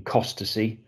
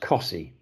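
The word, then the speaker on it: Costessey: cms um you know we could say uh in our norfolk systems that departures are leaving cost to see but everybody would roll around laughing because it's pronounced cosy so you you know there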